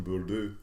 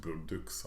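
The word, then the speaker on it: Bourdouxhe: You know, the book I was just mentioning, Forbidden Notebook, there's a Belgian writer called Madeleine Bourdieu, or it's actually pronounced Bourdeux, I was told by an actual Belgian, who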